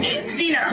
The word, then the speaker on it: Dino: Dinah. Like dino Like dinosaur? Spelled that way? Yeah, it's spelled d i n o.